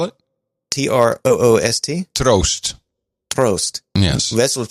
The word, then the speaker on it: Troost: name what's the last name how do you spell it t-r-o-o-s-t prost yes that's roast is that is that perfect for that i